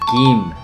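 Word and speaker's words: 김: interesting what is kimba kim actually is pronounced keem like g-i-m not k-i-m yeah right you didn't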